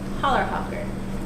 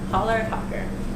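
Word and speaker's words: Chällerhocker: my favorite cheese so polar hawker it's spelled you should see it on the lid with that ch you don't say the ch pronounces h polar popper and it means sitting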